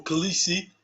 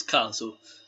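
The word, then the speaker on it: Kaliso: Oh, Calisi? Nah, it's Caliso.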